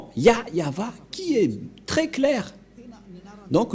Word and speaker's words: Yahvah: voit rien et donc c'est bien la fr prononciation de son nom yayava voilà le ya et voilà la suite après y yava voilà et vous voyez bien que c'est bien son nom d'invocation qui est yayava donc voilà le nom du dieu d'Abraham il